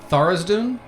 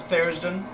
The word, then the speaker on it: Tharizdun: I'm going to mispronounce this name and Ian's going to correct me. Tharizdun? Oh, Yeah. no, it's Therisden.